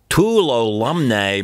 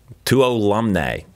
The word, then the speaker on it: Tuolumne: early June, and the Tuolumne Meadows shuttle is tentatively scheduled to run. Tuolumne is the proper pronunciation. I think it's pronounced Chapatulis. Spelled Tuolumne, pronounced Chapatulis. Tuolumne. I think that's it.